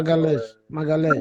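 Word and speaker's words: Magalhães: Magales.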